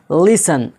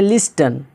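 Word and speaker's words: listen: जैसे लिसन, LISTN, कुछ लोग बोलते हैं लिस्टन, गलत हो जाएगा।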